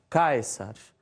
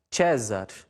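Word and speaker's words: Caesar: quadro né que César na pronúncia reconstituído fica caixas na pronúncia eclesiástica fica César e na promoção e fica César Mas pode deixar mais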